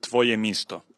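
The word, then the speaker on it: Твоє місто: am i right and how do you pronounce it in ukrainian it's called tvoyamisto yes i just missed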